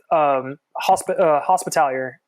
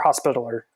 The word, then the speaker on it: Hospitaller: I'm pretty sure that that's the wrong pronunciation of that, but it sounds better to me than Hospitaller.